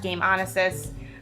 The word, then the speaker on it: Gameonysus: Twitter and Instagram app game on assist so that handle is game honest is spelled G AME ony ex-us game on SS so once again my